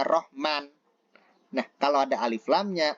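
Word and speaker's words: رحمن: memakai alif lam ar-rahman kalau Alif lamnya dihilangkan bacanya Rohman Nah kalau ada Alif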